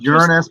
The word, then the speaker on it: Uranus: Yeah, he said, now this is the shot that he sent me from Uranus. This is the shot from Uranus. Actually, it's pronounced Uranus, but that's funny because we can always say, it's always swamp gas coming out of Uranus.